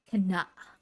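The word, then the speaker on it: KANA: the song on Spotify it's k space a space n space a it's pronounced as can the song has always been Rose tinted yeah it's 2:42 p.m.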